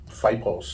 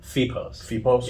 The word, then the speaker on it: FIEPOS: this is the uh the new um fight post is that how do you say that oh my God I can't have a fee post okay sorry what the heck yeah so what I called fight pauses feet post and this looks like